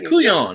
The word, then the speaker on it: Couillon: Couillon. Okay. I can't speak today. Yon. Just say yon, like you're yon. I want you. Oh, hey. Yeah, Couillon.